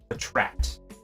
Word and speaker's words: Patrat: Not Patrat, Patrat. And if Hungry Korean's in here watching, he's probably not. Patrat is how you pronounce it.